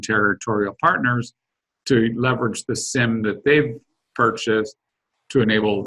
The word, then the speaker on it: SIEM: The SIEM, that's SIEM, there's a number of ways of pronouncing it, but I'll pronounce it SIEM for now.